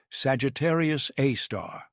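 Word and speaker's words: Sagittarius A*: It is named Sagittarius A, pronounced Sagittarius A star.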